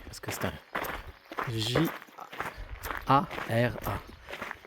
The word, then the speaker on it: Jara: El Real de la Jara. Jara. Je vais la prononcer parce que c'est un J A R A. Et le J, c'est R. Et le R, c'est R. Et Jara. Et non, Jara.